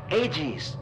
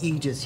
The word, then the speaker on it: AEGIS: your hard work on ages it's pronounced egis you dumb [ __